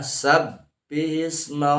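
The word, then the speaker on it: سبح اسم: Jangan sampai seperti mim ya, samis, jadi bukan sam, jadi seperti terdengarnya ada mim, samis, padahal itu adalah sabbihisma rabbikal a'la.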